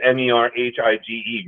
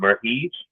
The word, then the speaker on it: Merhige: Elias, and I'm not sure how to pronounce the last name. It's Merhige. Merhige.